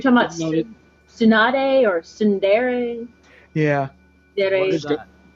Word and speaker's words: tsundere: It's Sundari, but I just pronounce it Sunder. I know it's wrong, but fuck it. I'm just gonna call it Sunder because that's what it looks like.